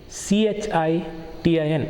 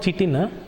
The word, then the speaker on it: chitin: It is made of chemical called chitin, CHITIN. It is not chitin, wrong pronunciation. Correct pronunciation is chitin.